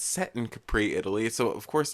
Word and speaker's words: Capri: either it's it's either sorry or Capri it's Capri Capri Italy and I mean in Italy and